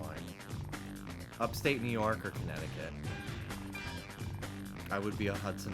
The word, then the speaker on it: Connecticut: the second T in Connecticut contic we do we don't pronounce the second C we don't say Connecticut